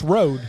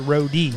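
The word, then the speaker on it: Rode: and people I mean you read it it's rad right but we're actually PR it's actually pronounced roie RO with a Big E there so looks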